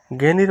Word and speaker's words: জ্ঞানী: মূর্ধন্য স আর ঠ দুইটা মিলেই হচ্ছে এটা উচ্চারণ হবে কনিষ্ঠ কনিষ্ঠ জ্ঞানী জ্ঞানীর মধ্যে এখানে রয়েছে এই যে এটার মধ্যে বর্গীয়